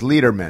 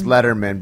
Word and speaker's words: Letterman: my dad changed it his father pronounced it leaderman and my dad was like it's Letterman it doesn't laderman is not how it's read so my